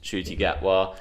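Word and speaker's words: Ncuti Gatwa: so i'm hoping i'm saying that right as shooty get well i'm excited for it yeah same i mean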